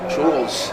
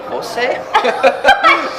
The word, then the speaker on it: Jules: It took me 1 year to learn how to pronounce my name, so people got it. I was like, Jules. They were like, Jose?